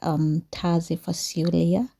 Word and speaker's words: Taze Fasulye: It is one of my favorite that I have loved lately, and its name actually they normally say it like Taze Fasulye.